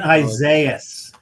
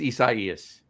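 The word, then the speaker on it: Isaias: We were uh uh you know sitting on lawns with Hurricane Isaiah. No, it was Isaaias. It was Isa. It was Isaas.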